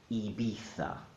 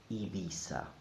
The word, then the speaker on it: Ibiza: The Castilian pronunciation, Ibiza, Ibiza, or the Latin American pronunciation, Ibiza, Ibiza. Everything else is not correct.